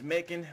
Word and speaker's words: Macon: His name is Macon. Rhymes with bacon.